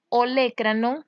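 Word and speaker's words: olécranon: Entonces, cuando decimos olecranon, con acento en la E, olecranon, hace referencia a la parte ósea anatómica del codo, del antebrazo, la parte más distal.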